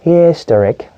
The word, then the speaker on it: historic: the end of it the real stress is on the ceiling wrapper for the cylinder that has the ic so i know it's not historic no that's me stressing the his i know it's not historic no it's got to be historic historic that is so fascinating